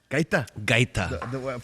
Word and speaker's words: Gaita: Gaita.